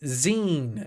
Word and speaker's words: zine: Pronounced zine is a mini magazine made by enthusiasts. Gotcha! Like the end of magazine.